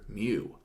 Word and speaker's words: mu: is the Greek letter mu. That looks kind of like a U in our alphabet, but with a little tail on the left-hand side. And it's pronounced like the Pokemon, but it's spelled differently.